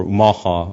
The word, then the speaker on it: Omaha: earlier I'm I'm one quarter Omaha or Omaha is how we pronounce it uh from the Southern